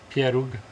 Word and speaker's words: pieróg: Pieróg.